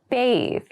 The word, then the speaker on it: bathe: a bath please note bathe and bath have separate pronunciations the pronunciations are different we can't say take